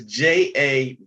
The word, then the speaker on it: Javanese: But it's funny when I see, okay, it's Javanese. Okay. A lot of people have problems pronouncing that.